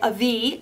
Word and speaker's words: Avi: It's by Avi. I believe that's how you pronounce it.